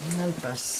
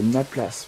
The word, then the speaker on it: Nalpas: Nalpass. Ah, je croyais que c'était Naplace. moi. Non, Nalpas. Nalpass, et c'est Nalpass.